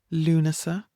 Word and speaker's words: Lúnasa: We have Imbolc, Bealtaine, Lunasa, and Samhain.